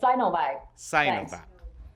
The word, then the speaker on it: Sinovac: designation with sainovac and how do you pronounce it is it zinovac also for my um purpose no sure it's synovia okay okay and what is